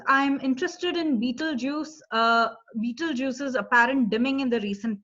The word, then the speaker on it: Betelgeuse: Beetlejuice is the closest pronunciation to what we say. But we've all been excited by that star because it's as dim as it has ever been. And so Betelgeuse is a red giant.